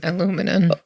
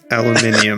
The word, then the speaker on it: aluminium: does it say aluminium how do you pronounce it aluminum aluminum unless you're british in which case you say no you that's wrong it's aluminium and i'm not british